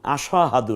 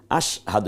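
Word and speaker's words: أشهد: এরও এককের মধ্যে ঢুকেছে এমন আশ না আশা হাহাদু না বরং আশ দেখুন এই যে স্বর নিচে একটা হসন্ত আশ হকে আকার দ এর রসুকার আশহাদু এখন আরবিটা যদি আমরা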